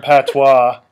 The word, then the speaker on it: Patois: I think he spelled it P A T W A or W A W S. W A W. Something weird. It's P A T O I S.